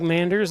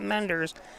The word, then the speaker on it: Manders: So Luke Manders up. Every time I say that name now, and I say Manders, not Menders.